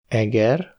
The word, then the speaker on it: Eger: La longueur des voyelles est très importante, comparez : örült (il s’est réjoui), őrült (fou) ; kar (bras), kár (dommage) ; Eger (le nom d’une ville), egér (souris).